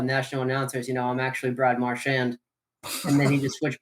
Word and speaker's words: Marchand: Quick aside, him being the legendary troll that he is, he switched up the pronunciation of his name depending on the year.